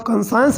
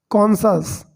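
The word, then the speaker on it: conscience: हिज कंसायंस, इसको आप कंसायंस नहीं कहेंगे, यही तो बात मैं आपको बताना चाहता था यहाँ पर कि इसको कंसायंस नहीं पढ़ते, इसको पढ़ते हैं कॉन्सस, ठीक है, ये ध्यान देना है आपको। कई बार लगता है कि ये CON कौन हो गया और SCIENC साइंस हो गया, तो कॉन्साइंस बोलते हैं, लेकिन दोस्तों इसका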